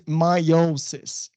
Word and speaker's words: meiosis: The proper name was sort of one of the, another name for it is meiosis. Meiosis, mind the pronunciation.